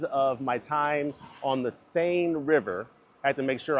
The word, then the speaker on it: Seine: my time on the Sane River. Had to make sure I asked someone at the at the desk, how do you pronounce this? Is it s? No, sane.